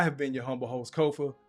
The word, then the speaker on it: Kofa: Once again, I have been your humble host, Kofa, Kofa, not, not, not Kofi, or any variation thereof. Kofa rhymes with sofa.